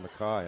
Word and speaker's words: Makai: Fox loses the yard is it Makai it looks like Micah but he must pronounce it Makai I would not dispute